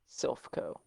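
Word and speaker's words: Silph Co: Silphco. Yeah. Um, just say that again for the record. Silphco. Silphco? Yep. How do you spell that?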